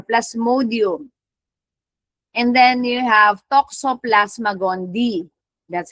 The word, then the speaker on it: Toxoplasma gondii: And then you have Toxoplasma gondii. That's how you pronounce that. Toxoplasma gondii.